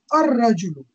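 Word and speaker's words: الرجل: Similarly, al-rajulu, even though it's written as al-rajulu, you'll put a shadda on ra, and then you'll pronounce it as ar-rajulu, the man.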